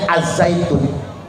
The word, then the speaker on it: Al-Zaytun: Ya sebetulnya bacanya Az Zaitun, cuman gak enak Pak, Al Zaitun aja sesuai dengan maunya mereka. Mereka nyebutnya Al Zaitun bukan Az Zaitun.